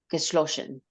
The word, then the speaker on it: geschlossen: again, the double S is geschlossen, Geschlossen. geschlossen, because you pronounce it as Geschlossen. geschlossen, yeah. So you're making it SCH instead of a double S, Oh, Yeah.